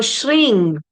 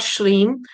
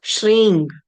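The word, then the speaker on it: श्रीं: If I were to write in English, that ng, that nasal m is equal to ng, that nasal sound, if not anything else. If you're not able to understand anything else, is that ang sound So shring is the way to pronounce it.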